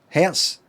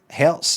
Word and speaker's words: Hertz: Hertz has got a Z sound at the end that sounds like S.